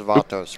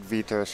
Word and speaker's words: Vatos: That's Vatos, right? There you go. Los Vatos. I'm saying it right. Update. Los Vatos. Yeah. So I would say it. I know. I said Vitos first because I'm retarded.